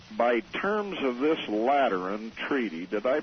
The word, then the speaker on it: Lateran: Vatican that's right right by terms of this lateran treaty did I pronounce that right you did absolutely correctly so